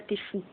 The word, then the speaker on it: TF1: Enfin TF1, mais en gros on prononce ça Tfou.